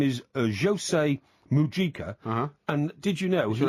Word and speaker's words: Mujica: Now, J in Spanish is not ever a J, is it? Well, it's Mujica then, or whatever.